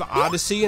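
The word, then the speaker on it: Odyssea: Abandoned Ship, Sea of Solitude, Brave Odyssey, and that's spelled O-D-Y-S-S-E-A, like Odyssey, and then Make Sail as well.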